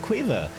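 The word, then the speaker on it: Caoimhe: i don't know how you don't see it cueva c-a-o-i-m-h-e like it makes it god so just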